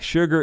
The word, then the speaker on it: sugar: Um, David Tharp, fun fact, sugar is the only word in the English language where su is pronounced sh.